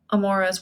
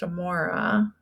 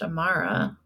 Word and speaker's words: Amora: middle name is Amara pretty sure her name is pronounced Amora I guess I'm not sure if it's actually pronounced Amara okay just double checked no Amora okay but you see